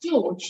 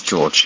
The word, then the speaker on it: Jorge: And is that pronounced George, did you say? Yes, George, yeah. Great, thank you.